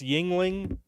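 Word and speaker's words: Yuengling: was supposed to be it's pronounced Yingling do you know the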